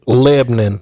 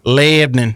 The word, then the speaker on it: Lebanon: we moved there it it's spelled like the country Lebanon um but the locals will correct you Le Lebon Lebon Lebon Tennessee that's how they say it in Missouri too because there's a Lebon Missouri Lebon I'm from